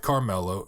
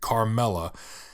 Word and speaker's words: Carmela: Now, currently, where the show picks up, he is married to his wife Carmelo, and he is, or not Carmelo, excuse me. I hope I didn't pronounce that like that. Carmela, and his two kids, Meadow and AJ, or Anthony Jr.